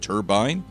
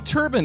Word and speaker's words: turbine: turbine instead of turbine now turbine is actually the original pronunciation for the word turbine is more of a British pronunciation now as a student of the English language I think it's fascinating how language and pronunciations change over time and it's gotten to the point where a lot of Americans have never heard the American pronunciation turbine turbine turbine after the